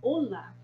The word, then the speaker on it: hola: A primeira coisa que a gente vê com esse saludo, com esse hola, é que esse H em espanhol, ele não tem som. Tá vendo que o som é mudo?